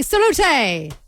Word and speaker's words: salut: Tanya in Wong says, "We say salute." Say again. Salute.